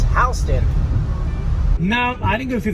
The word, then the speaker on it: Houston: It's spelled like Houston, so people get confused, but it is Houston.